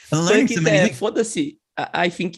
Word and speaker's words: foda-se: Foda-se. I think it's foda-se. Foda-se is FODA hyphen SE.